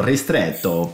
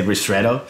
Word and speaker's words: ristretto: Technically you pronounce it, if you want to go Italian you go ristretto, but otherwise we say ristretto. And it's much easier.